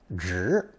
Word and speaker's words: 植: So here it is, the character for plants and planting, pronounced second tone, 直.